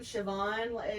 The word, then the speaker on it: Siobhan: The name Siobhan is one of those when you see it spelled versus pronounced.